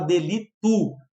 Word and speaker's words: delito: Cuidado! Às vezes a gente pode falar delito, falar com U, ou seja, tu mudou o O para U, mas tu notou que não teve um acréscimo e supressão. A palavra fica tal qual como a gente conhece.